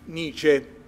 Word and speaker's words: Nietzsche: Nietzsche. Nietzsche? No, si pronuncia... Friedrich Nietzsche.